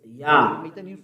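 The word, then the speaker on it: יה: Yah. According to the Hebrew. When you see this word, it is read Yah in Hebrew.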